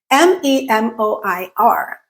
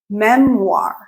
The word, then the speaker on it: memoir: memoir. How is this word pronounced? The correct pronunciation of this word is memoir, memoir, memoir. So the O-I-R at the end of the word make the war sound.